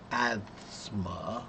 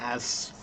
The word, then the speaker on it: asthma: Well, you know, your name does sound very much like the word asthma. Uh, it's only slightly different. And the truth is that many people pronounce the word asma wrong because there's the asma. Asma, right? So you have the asma in asthma, but when it happens quickly, 99% of people when they say it quickly, you can't really hear it.